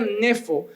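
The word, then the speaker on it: νήφω: La palabra sobrio en este contexto, la palabra griega se pronunciaría nefo.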